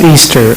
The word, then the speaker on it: EASTR: It is pronounced Easter. I'm sure it's pronounced Easter, but it's It is a department within technology.